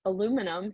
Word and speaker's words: aluminum: be atomic number 13 it is aluminium as the british say or aluminum here in the usa um either one is fine we're gonna put 13